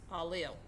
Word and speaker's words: allele: information for each form as an allele pronounced a lil we can describe the